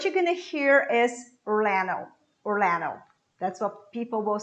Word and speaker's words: Orlando: that is orlando orlando in american english you will hear orlando because this d is cut out so we say orlando but what you're gonna hear is orlando orlando that's what people will